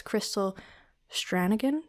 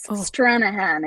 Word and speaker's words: Stranahan: names, but mostly as Crystal Strangan. Did I get that right? Close. Stranahan. It's true. Irish silent G for the win.